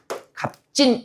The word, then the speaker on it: 값진: 받침에서 두 개가 한꺼번에 발음될 수는 없으니까 둘 중에 하나가 빠지는 뭐가 일어난 겁니까? 탈락. 자음군 단수나 탈락이 일어난 거고요. 그다음에요 상황에서 보니까 지금 안눌림 소리 뒤에 구두버섯저가 왔거든요. 뭐 일어나야 돼요? 된 소리 대기. 그래서 최종 발음은 어떻게 되는 거예요? 갑진. 이렇게 되는 거죠.